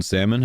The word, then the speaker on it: salmon: Americans don't pronounce the L in salmon. Americans don't pronounce the L in salmon.